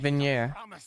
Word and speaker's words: Vignier: Oh, that's how you say it. Vignier. Why the silent G?